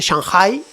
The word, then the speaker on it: Shanghai: ciudad de Shanghai Shanghai chino se dice shanghái hacen así un acento en la H que está en el medio para masacrar a esas